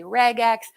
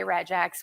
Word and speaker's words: regex: to abbreviate abbreviated regex some people say regex I don't care how you say it I say regex with soft G um the thing about